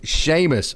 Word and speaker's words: Seamus: It's spelled Seamus. Sorry, Coach. It's Seamus Barrett.